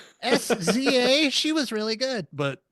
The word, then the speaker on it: SZA: Saza. Saza. Sza.